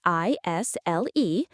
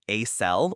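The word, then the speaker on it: aisle: It's spelled A I S L E, but you don't say the S.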